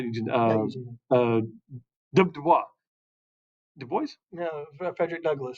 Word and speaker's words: Du Bois: Is it Du Bois or is it Du Bois? It's Du Bois. It's W.B. Du Bois. Du Bois. You can actually go in on the Google and actually hear him pronounce his name.